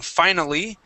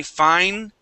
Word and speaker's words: finally: We take out that I. We can do the same thing with the word finally, okay? Instead of saying finally, we say finely.